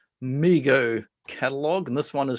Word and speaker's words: Mego: Why is it pronounced MIGO and not meo?